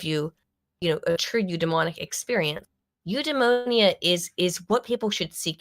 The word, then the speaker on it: eudaimonia: I'm not trying to say like you must feel eudaimonia from that job, right? But not pneumonia, eudaimonia.